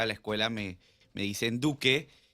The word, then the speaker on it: Duque: Entonces, por fin, ¿es Duque o es Duke? Duque. Yo digo que es Duke. Duke. Porque la forma en que está escrito es Ya. Duke. Bueno, mi apellido realmente se pronuncia Duke.